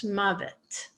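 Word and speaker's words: מָוֶת: But when you go to a noun form, you actually pronounce the vav in the middle and it becomes mavet.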